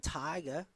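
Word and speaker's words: Tighe: And uh here is Caitlyn Tiger or Ty uh batting 293 on the season. Yeah, pronounced tig as in tiger.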